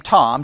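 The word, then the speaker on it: Thom: of your congregation and again i'm going to pronounce his name tom t-h-o-m-s rainer r-a-i-n-e-r it is it will be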